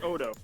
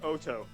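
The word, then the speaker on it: Otoe: but nahaka and Union Odo Odo say pronounce it Oto all right well Oto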